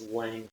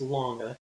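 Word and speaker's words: Lange: to come across videos that's called the james lang theory okay heard it both ways the correct pronunciation is longer which helps our mnemonic device so mr woodard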